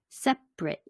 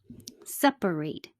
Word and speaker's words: separate: associate associate estimate estimate separate two syllables separate three syllables alternate alternate aggregate aggregate